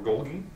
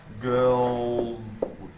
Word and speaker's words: Golgi: Yeah, Golgi I thought it was or Golgi, if you want to throw in an extra G, but Golgi. It's like a J. Yeah, it's like Golgi.